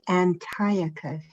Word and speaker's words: Antiochus: so yes and that is why the correct pronunciation is antiochus as in antiochus epiphanes probably yeah you mean